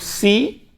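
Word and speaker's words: ξ: Abaixo do nu tem o xi, tá?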